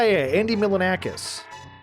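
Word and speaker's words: Andy Milonakis: Yeah, Andy Milanakis.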